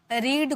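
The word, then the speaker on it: read: Second form है और जब भी आप रीड को वर्ब की सेकंड फॉर्म के रूप में लिखते हो तो इसकी प्रोनाउंसिएशन रेड में की जाती है। First form रीड second form रेड third form रेड। गॉट इट?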